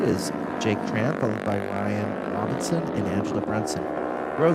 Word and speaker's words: Ryan: Robinson's name wrong because according to the pronunciation guide, it's Ryan.